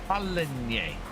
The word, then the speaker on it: Paligny: If I'm doing a series on this map, I need to make sure I can pronounce it. Paligny.